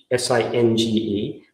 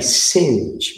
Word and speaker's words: singe: Singe, S-I-N-G-E, to sort of burn. Orange, singe orange. The way I pronounce it, or the way it's pronounced, I think, in the United States, singe and orange rhyme.